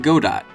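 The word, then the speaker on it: Godot: next attempt was in God do that's the way it's pronounced don't look it up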